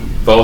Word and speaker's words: pho: I told you about that pho house. At Acton 146. I never know how to pronounce it.